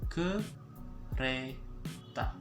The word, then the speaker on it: kereta: So train is kereta in Bahasa, so kereta. Okay, it's like pronouncing kudeta, same thing, but we're gonna change up a little bit, change the D with R. Okay, and then U with E, so kereta.